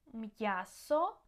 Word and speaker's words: м'ясо: П'ять, м'ясо, б'ю, п'є, в'язати, м'який. Okay, so try to pronounce these words, and you can hear that the apostrophe helps to keep the sounds separate and clear.